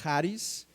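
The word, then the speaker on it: χάρις: es gracia gracia eh viene de una palabra griega que se pronuncia haris que pue se puede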